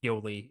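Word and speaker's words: Yolei: It's spelled Yole, but I think it's pronounced Yoli in English, or at least that's how they say it in the dub.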